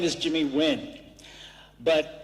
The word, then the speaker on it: Nguyen: my name is Jimmy Nguyen but in Vietnamese it's actually pronounced when very difficult for people